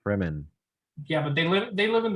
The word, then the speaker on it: Fremen: There's this other group of people called the Freemans or the Freemen. I forgot how it's pronounced. Fremen.